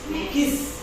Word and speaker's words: Magix: Magix, bacanya Magix ya.